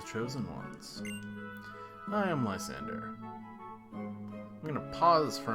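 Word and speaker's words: Lysandre: when I first played through this game and pronounced it LeAndre however as the official pronunciation is Lysander that is what it is I've tried to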